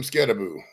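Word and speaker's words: Skattebo: How do we pronounce his name? Scadaboo? Cam Scadaboo.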